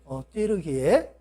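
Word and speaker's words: Türkiye: 띠르기에. 근데 이 터키라고 하는 말은 영어식 발음인데 칠면조, 겁쟁이라고 하는 그런 뜻이 있어요. 그러니까 이 터키 사람들은 얼마나 그 말을 수치스럽게 생각을 했겠어요. 근데 원래 이름은 띠르기에, 용감한 사람들의 땅이라고 하는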